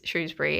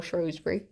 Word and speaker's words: Shrewsbury: It's a really lovely place, Shrewsbury, actually. It's really, or Shrewsbury, whichever one you feel like going to.